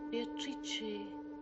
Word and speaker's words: Beatrice: It is pronounced Beatrice in Italian which makes it very beautiful.